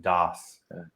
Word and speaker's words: Das: DOS. Yeah, Okay. like DAHS. That's how you would pronounce it, DOS.